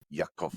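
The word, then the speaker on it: Ya'aqov: name, the one I was pronouncing was YA apostrophe AQOV. Yakov.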